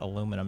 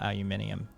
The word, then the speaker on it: aluminum: with the refinement of aluminum actually uh specifically pronounced it aluminum not aluminium oh yeah yeah it's one of those surprises